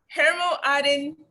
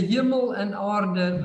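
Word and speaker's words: Hemel-en-Aarde: It's called Hermo Aden Did I say it? That sounds about right. Yes, it's Can you please help us out with the correct pronunciation? it's the Hemel and Aarde Valley, which is essentially the Afrikaans for heaven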